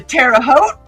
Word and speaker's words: Terre Haute: And Carl says, yes, on Saturday they went to Terre Haute. Rhymes with boat.